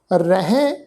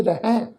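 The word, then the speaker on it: ਰਹਹਿ: साध संगत जी ख्याल रखो ये शब्द है जी रारा, फिर हाहा, फिर हाहे नूं सिहारी। इस शब्द का पाठ उच्चारण करांगे रहें। रारा हाहे शब्द के उपर दुलावां का पाठ, फिर बिंदी सहित नासकी पाठ उच्चारण करांगे जी रहें।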